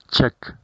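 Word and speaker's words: Czech: caso de república checa su pronunciación en inglés es checa república checa república sonando la ch de la primera parte como una k check check republic y nacional y al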